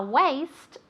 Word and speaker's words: waste: A waste of time. Waste, aunque se escribe con A, se pronuncia como si fuese E-I. Waste.